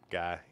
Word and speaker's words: Guy: So, Guy rhymes with buy, high, sigh, high.